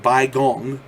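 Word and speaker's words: Baigong: china's king hai province near mountain near mount bai gong b-a-i-g-o-n-g are three caves filled with pipes leading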